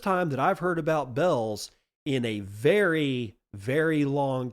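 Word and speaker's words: Bealls: Now you might not remember Bell's the retail store. It's spelled B E A L Ls. And I used to pronounce it Beals, but apparently it's pronounced Bells.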